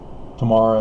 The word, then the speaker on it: Tamar: Tamar is a harlot.